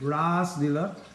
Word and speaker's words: Ras Leela: So a long A in Sanskrit, Ras Leela, means that which is ashwadan or tasted.